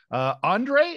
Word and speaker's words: Ondrej: Ondrej, is that the correct pronunciation of your name?